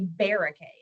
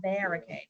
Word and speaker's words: barricade: So what sound are we saying when we say barricade? We're not saying R. We say We're saying actually a short E, right? It's a short vowel, barricade.